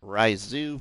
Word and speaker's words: Risoux: translate with the word ryzu forest and and it pronounces it just like that so basically rye and zoo so two pronunciations uh